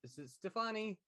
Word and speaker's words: Stefani: yeah um Amy uh John told me I was saying her name wrong the other day it's Stefani yeah Gwen Stefani left a